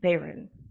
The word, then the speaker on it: Bayron: you all right next up we have kayn Baron kayn am I pronouncing your last name correctly that's perfect okay